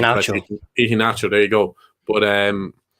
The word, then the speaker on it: Iheanacho: Great finish by Greenwood, but he's gotten a tune out of Ichinacho or Ichi. I'm not sure how you pronounce his name. Iheanacho.